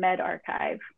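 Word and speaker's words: medRxiv: And we've also identified that these are pronounced bioarchive and medarchive.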